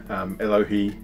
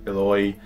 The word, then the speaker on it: Eloi: Elohi should be Eloi.